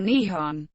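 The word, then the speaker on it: 日本: video game industries etymology the name for japan in japanese is written using the kanji and pronounced nippon or nihon before it was adopted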